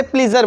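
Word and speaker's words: pleasure: क्योंकि दोस्तों ये प्लीज़ से प्लीज़र बना है ना, प्लीज़, प्लेज़र।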